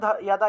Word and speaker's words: যদা: তাহলে গীতার যে শ্লোকটা আছে যদা যদাহি ধর্মস্য, এটা উচ্চারণ হবে ইয়াদা ইয়াদাহি, ইয়াদা ইয়াদাহি ধর্মস্য, এভাবে।